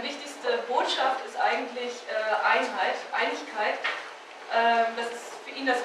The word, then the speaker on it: Einigkeit: Einigkeit.